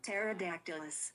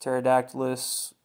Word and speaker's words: Pterodactylus: guy top left corner pterodactylus pterodactylus when anytime you see terot the p p is silent t e r o